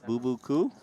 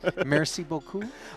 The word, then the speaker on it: merci beaucoup: Merci, boo-boo-coo? Something like this? Randy, what just happened? Was merci beaucoup?